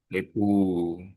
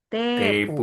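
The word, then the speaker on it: テープ: Kalau tape dibacanya. Tebu. Tebu. T-nya yang panjang.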